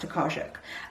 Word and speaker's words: Tokarczuk: I think it's pronounced Tokarczuk, which is translated from the Polish by Antonia